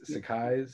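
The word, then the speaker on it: Sacai: pair of those shoes so bad am i pronouncing that right this sakai's yep that's oh my god i want a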